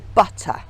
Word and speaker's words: butter: from American English because they would tend to glide over the T and make it more into a D so butter would become